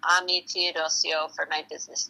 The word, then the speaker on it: Teodosio: So, my name is Ami Teodosio and that's spelled A M I T E O D O S I O. And I just use um my full name Ami Toddio for my business name.